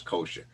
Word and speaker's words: kosher: The word in Hebrew is kasher, but the Yiddish pronunciation is kosher.